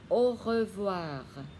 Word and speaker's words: au revoir: AU đọc là O, đọc lại au revoir.